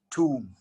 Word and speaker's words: tomb: we're looking at is tomb t-o-m-b say it again two let's say it one more time two and the next